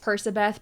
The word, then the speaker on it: Percabeth: want to pronounce it a lot of people think it's persabeth because his name is Percy not perky but Percabeth is just more fun to say it sounds like percocet I say percobeth but I know a